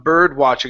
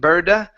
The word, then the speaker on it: bird-watching: going to work on bird-watching instead of saying bird-watching burda it's bird bird watching bird watching bird watching